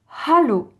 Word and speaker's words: hallo: Il faut bien dire hallo. Donc H expiré. Donc bien expiré, comme en anglais d'ailleurs, hello, hallo. D'accord?